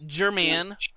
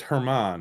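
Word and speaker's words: Germán: I know it's not pronounced German. Oh, it's Herman.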